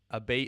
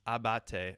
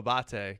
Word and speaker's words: Abate: is going to be a bait is pronounced Abate oh Abate gotcha gotcha well you live